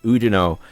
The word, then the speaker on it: Oudinot: We now have Oudinot. Once again, the French just not pronouncing the last letter of a word.